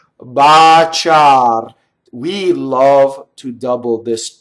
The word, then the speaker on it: baciar: What they do is, the bigger mistake is to put doubles where they're not in Italian, right?